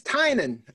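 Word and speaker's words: Tynion: read in a while been saying the guy's name wrong on the channel and I fully accept that James Tainan I kept saying James 10 in the I apologize but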